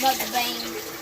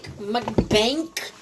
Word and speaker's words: mukbang: No, Eileen, how people say that's not how you say it. It's mukbang. Mommy, can I make a Yeah, that's what People say mukbang, mukbank also. Bank? Like bank, mukbank. I've heard people say it like that.